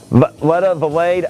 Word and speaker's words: Valade: It's Greek, and it's pronounced, well, it's actually French-Canadian, and it's pronounced Valade, Valade.